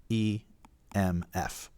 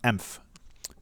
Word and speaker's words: EMF: called the m f pronounced exactly as it sounds e m f it's not pronounced emph you would think it